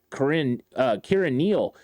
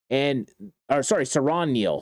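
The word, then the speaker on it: Siran Neal: They also went out and got a cornerback, Kieran Neal. And Kieran Neal is another really good player that the 49ers got that can help on special teams. Saron Neal, said it wrong. Saron Neal, that can really help on special teams.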